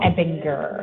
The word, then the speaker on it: Ebinger: Ebinger, the hard G. Ebinger.